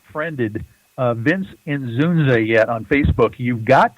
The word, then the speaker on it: Inzunza: Inzunza is how you pronounce it, but it doesn't look that way when you first have to encounter it.